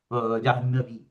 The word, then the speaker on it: जाह्नवी: अनेनैव प्रकारेण जाह्नवी, somebody saying Jahnavi or Jahnavi and so on.